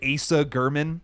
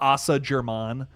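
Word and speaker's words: Asa Germann: Asa German. Like you're looking at that name and you're telling me it's not Assa Germon. Fuck you. That's crazy. What? Sorry. Anyways, Asa German here is he's got like a bloody hand.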